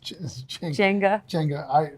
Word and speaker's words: Jenga: Jenga. He still gives me a hard time about not being able to pronounce it. I just said Zenga.